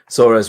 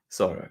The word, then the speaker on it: Sora: She remembered how Halmoni would say her name with a soft S and a gently rolled R.